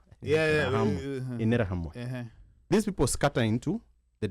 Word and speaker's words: Interahamwe: It's pronounced Interahamwe. No, I've heard it being pronounced in Terra. Interahamwe.